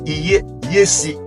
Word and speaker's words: yesi: The horse in Urhobo is pronounced yesi.